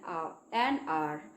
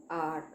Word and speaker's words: hour: is 50 miles an hour. What is this? Here H is the consonant, but we have used an here because here H is silent and we are not pronouncing this H, and we are pronouncing this with an vowel sound.